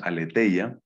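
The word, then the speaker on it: ἀλήθεια: portal católico que pues todos pronunciamos y así también lo pronuncian ellos aletheia y alude y claramente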